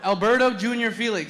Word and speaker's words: Alberto Jr. Felix: Alberto Jr. Felix.